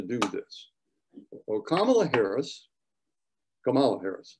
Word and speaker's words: Kamala Harris: this well kamala harris kamala harris that's how you pronounce it was a senator